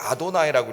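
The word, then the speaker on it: אדני: 그것은 뭐라고 읽었냐면 아도나이라고 읽었어요.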